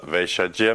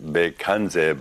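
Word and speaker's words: Bhaiṣajya: People, Tibetans often pronounce it Bekanze, but they always mistakenly recite the mantra a number of wrong ways. So Vaishyaja is the right word.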